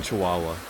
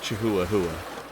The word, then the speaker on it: chihuahua: the flood i'm like i'm a little swimming chihuahua i'm sorry i pronounced that incorrectly chihuahua there you go well you don't have to